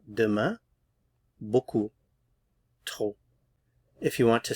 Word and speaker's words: beaucoup: Beaucoup. Beaucoup. Too much. Trop. Trop. So final consonants not pronounced here. Demain. Beaucoup.